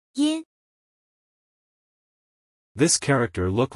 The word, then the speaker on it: 音: This word is pronounced as follow. Yin.